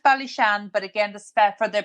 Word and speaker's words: Ballyshane: that area to go on to it it's pronounced bishan but again the for the purpose of spelling